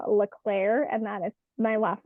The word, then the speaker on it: Leclerc: you can find me at um M Leclair and that is my last name is spelled l-e-c-l-e-r-c um you can find me there